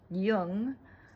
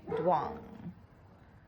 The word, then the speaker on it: Duong: He goes by T, T-E-A-D-U-O-N-G, which is actually in Vietnamese pronounced Jung, but most people in the United States probably say Duong.